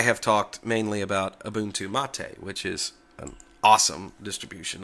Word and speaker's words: MATE: give it a try the spelling of mate or mate is m a which looks like mate as in roommate or Checkmate but the actual name of the desktop comes from a South American flower the folks who started